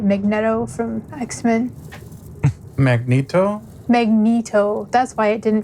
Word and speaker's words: Magneto: me and my brother called him magnetto for most of our lives and then watched the movie where his name is Magneto so yeah there that's my problem to be fair it should have been Magneto I mean that's how it's spelled but Magneto sounds eviler